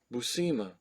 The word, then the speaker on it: Buscema: And he proceeded to tell him it's Boo or Bu, and you don't pronounce the S, and then Sema, Buscema.